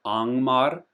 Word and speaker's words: Angmar: So, Angmar is just like an in English an ing, like running, whereas here you pronounce the G Fangorn. Um so, there's a little